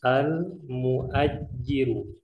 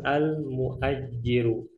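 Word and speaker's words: المؤجر: Cara bacanya perhatikan. Al-mustajiru. Yang satunya al-muajjiru. Bisa dibedakan ya. Al-mustajiru dengan al-muajjiru.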